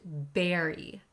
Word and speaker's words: bury: be careful with pronunciation the first word looks like bur but it's pronounced berry berry On's head in